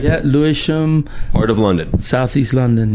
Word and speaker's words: Lewisham: Yeah, Lewisham.